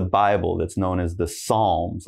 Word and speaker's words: psalm: Now, the next one here, it's not psalm, all right? Now, this we just say psalm.